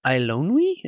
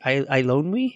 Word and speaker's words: Eilonwy: Oh, you weren't moved by the gripping story between Taran and Eilonwy, I think is how you say it. Eilonwy?